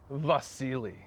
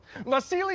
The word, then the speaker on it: Vasili: It's pronounced Vasily. Vasily Yaromir Yemelyanovich Anderson from North Dakota.